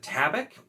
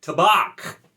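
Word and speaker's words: tabac: really small one but i've always said tabik uh for like you know it's it's tobacco and so tavik toback you know it kind of fits me but apparently it's tabak like a chicken that's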